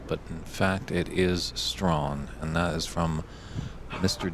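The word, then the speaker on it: Strachan: years ago and it looks like you would pronounce it Sten yeah just the way it's spelled but in fact it is strong and that is from Mr Dave henden I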